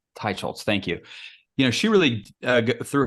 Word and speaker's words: Teicholz: Teicholz. Teicholz.